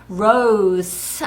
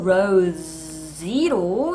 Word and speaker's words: rose: rose 아니고 rose로 읽어왔습니다.